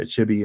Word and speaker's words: Chibi: I've heard it pronounced both ways, by the way, Chibi and Chibi, but I'm going with Chibi.